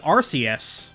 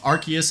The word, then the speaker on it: Arceus: and Pearl, and that game's announcer calls it Arus. Arus restored its health. People have also pointed out the possibility of a third pronunciation. In 2009, we got a new Pokémon movie called Archus and the Jewel of Life.